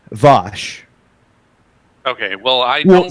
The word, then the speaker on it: Vaush: Okay, just out of curiosity, are you saying Vouch ironically? Wait, what? How's it supposed to be pronounced? Vosh.